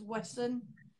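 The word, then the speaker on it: Wesen: It's different creatures in it, which are called Wesson, with a W, not with a V. When you say it sounds like V, because it's Vesson, but it's not pronounced Vesson. It's Wesson with a W.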